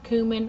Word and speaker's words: cumin: And I also used a little less of the cumin, or cumin, however you pronounce the word. I say cumin because that's just the way I say it.